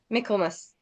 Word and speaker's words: Michaelmas: Michaelmas. Am I pronounced that correctly?